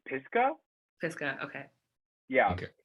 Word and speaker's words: Pisgah: was saying it correctly yeah it's um it's pisco okay yeah okay it's um it's a national